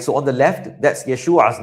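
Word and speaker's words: ישוע: So, on the left, that's Yeshua's name. Yeshua, right? Yeshua. We drag out, remember, drag out that a sound. Yeshua. Yesu, right? Whereas salvation is Yeshua.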